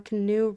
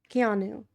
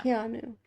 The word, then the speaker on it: Keanu: We could just keep saying canoe. No, it's wrong. It's mean. It's It's not kind to mispronounce someone's name after looking it up. Keanu.